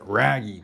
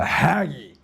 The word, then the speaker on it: Ragge: Haggi in North American you want to pronounce it raggy, but I've been told down here it's the haggy.